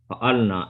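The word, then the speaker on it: فعلنا: Fa'alna. fa'alna, and that's where I think brother. But when you have a alif, you just say fa'alna, just make it longer.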